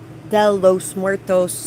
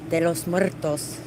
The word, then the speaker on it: de los Muertos: it this morning and it was like Del los Muertos and they're like I am so sorry for the way I pronounced that and the whole time they were saying it I was just like de los Muertos de los Muertos I'm